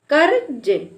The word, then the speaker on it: कर्ज: हम पढ़ेंगे धर्म धर्म और जैसे यहां पर लिखा है कर कर्ज तो हम इसका उच्चारण क के बाद आधे र के रूप में करेंगे तो कर्ज कर्ज यानी जिस अक्षर में